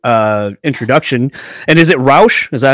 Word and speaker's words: Rauch: of a formal uh introduction and is it roush is that how you say it uh rao actually rhymes with german yeah i just learned how to